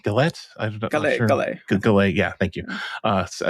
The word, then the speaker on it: Gallet: of the uh G gallette gay yeah thank you uh again stupid American can't uh pronounce that one I feel like I've heard enough times that I'm confident yeah it's gay um anyway Ling acquired